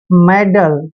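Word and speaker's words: meddle: देखिए एम का उच्चारण मैं करते हैं, ई को ए की मात्रा पढ़ते हैं, डबल डी का उच्चारण हम डे लिखेंगे और एल ई को ले पढ़ते हैं, मेडल। मेडल होता है दोस्तों बाधा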